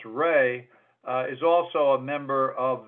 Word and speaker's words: Rhea: David Rhea, or actually pronounced Ray, is also a member of the troop at this time.